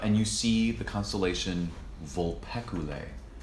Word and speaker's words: Vulpecula: you see the constellation vulpecula vul PE see you la e Briella sure it's